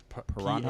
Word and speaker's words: Paraná: São Paulo and and Paraná. a n a. r a n a. Paraná. With a accent on the A there, so. On the A? Yeah, on the last A.